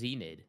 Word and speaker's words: Xnid: So, And then so somebody told me that Xnid is pronounced Zenid.